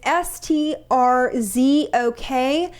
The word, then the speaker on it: Strzok: This FBI agent, his name is Peter excuse me if I'm mispronouncing this. It's Strzok.